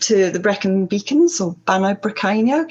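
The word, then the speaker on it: Bannau Brycheiniog: Can you tell me how to pronounce the new Brecon? Banau Brycheiniog. Brycheiniog is a bit of a in it to it. Banau Brycheiniog.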